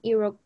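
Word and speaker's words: Iroquois: the two dominant languages it's called algonquian and iraq that's how you pronounce it um those were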